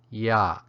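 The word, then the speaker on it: ရ: how to pronounce it it has the creaky stop tone and is pronounced yah yah now let me show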